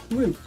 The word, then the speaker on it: route: How do you pronounce route to route pronunciation? Root.